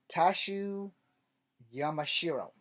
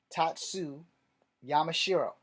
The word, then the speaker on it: Tatsu Yamashiro: I am pretty sure I butchered that. So we're going to spell that. Her name is Katana. T-A-T-S-U. Last name Y-A-M-A-S-H-I-R-O. Tatsu Yamashiro. And I can't be wrong on the pronouncing. I am not Japanese, so you'll have to deal with that.